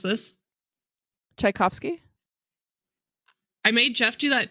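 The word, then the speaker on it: Tchaikovsky: goddaughter I'm going to highlight this can you pronounce this chaikovsky I made Jeff do that too and both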